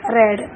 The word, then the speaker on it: read: तो ही हैड रेड English, इसको pronounce करेंगे रेड, स्पेलिंग वही है READ लेकिन प्रोनाउंसिएशन रेड हो जाएगी।